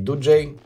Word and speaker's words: Doogee: Dooji, а вообще правильно произносить Dooji, готовит мировую премьеру смартфона Dooji N30.